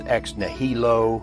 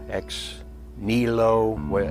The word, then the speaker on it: ex nihilo: And that term was ex nihilo. It is pronounced in various ways as ex nihilo, ex nihilo with a silent h.